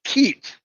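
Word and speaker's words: kyat: And by the way, Robin, the voice Noble, told me that Myanmar's currency is cat. It's pronounced keet.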